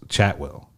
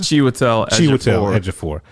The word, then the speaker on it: Chiwetel Ejiofor: Like the only person who knew what movie they were making was Chatwell. Well, how pronounce it? Chiwetel Ejiofor.